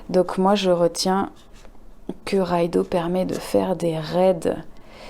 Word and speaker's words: Raidho: r&d h au et le dh ça se prononce comme le th anglais donc ce serait plutôt raido voilà je suis pas